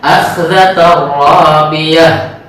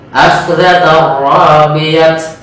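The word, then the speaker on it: أخذة رابية: Kemudian di ayat 10-nya akhdhatar rabiyah. Nah, begitu. Cara membacanya jangan seperti akhdhatar rabiyat. Nah ini salah.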